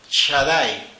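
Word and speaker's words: Shaddai: nombre de tres letras sin Talent que se pronuncia Shadai en la leyenda amazónica de la construcción del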